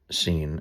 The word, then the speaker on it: Sin: This is the note the geographical name S I N scene is how it's pronounced.